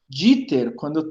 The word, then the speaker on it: Dieter: Dieter, em alemão, quando tem IE, se pronuncia só I.